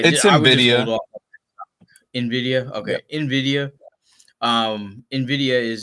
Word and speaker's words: Nvidia: Navita. I may be saying it wrong, but yeah, It's I would just hold Nvidia. off. Nvidia.